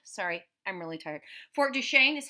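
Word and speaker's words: Duquesne: Fort Duchesne is how you say that.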